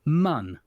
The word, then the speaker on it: Mun: Squad have decided, they told Nate Simpson, who's creative director of KSP2, that it's pronounced mun.